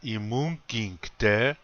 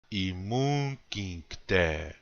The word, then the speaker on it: imunkinkte: Also, please notice that in the word imunkinkte, again, the accent is on the second syllable. Imunkinkte.